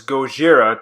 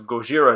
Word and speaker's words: Gojira: you didn't know so Gojira is actually the Japanese pronunciation of Godzilla and the ban Gojira